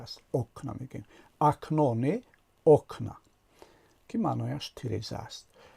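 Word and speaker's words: окна: ا آمده است و شکل جمع این کلمه رو ساخته است و تلفظش شده است اوکنا. زده در هجای اول افتاده است، نه در هجای آخر.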